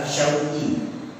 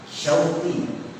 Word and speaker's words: Syauqi: Contoh dalam bahasa Arab, nama saya yang diberikan orang tua saya adalah Syauqi. Terdiri dari huruf shin, waw, qaf, dan ya. Syauqi.